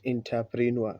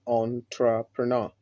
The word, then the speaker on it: entrepreneur: So the pronunciation is entrepreneur, not entrepreneur, but entrepreneur. This is how we pronounce the word entrepreneur.